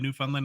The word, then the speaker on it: Newfoundland: Second of all, it's Newfoundland, not newfound land. It's not three separate words. It's one word.